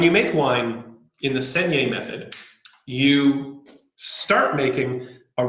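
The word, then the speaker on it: saignée: of making wine uh an old french method and it's pronounced seniae think of it like s-e-n-y-a-y segne so when you make wine in the senior method you start making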